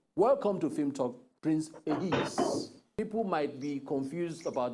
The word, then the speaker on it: Ehiz: a lot hello happen um my name is pronounced di yourself to not be deceived by all the